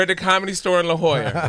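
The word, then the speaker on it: La Jolla: I'm like what the it's La Hoya like you didn't arrive on the bus you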